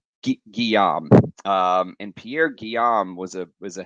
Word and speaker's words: Guillaume: His name was Pierre Guillermo. God, what an idiot. Guillaume.